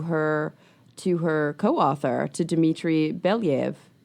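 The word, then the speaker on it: Dmitri Belyaev: to her co-author to Dimitri Bev is that how you said that that's right yeah yeah that's that's how you say it um and yes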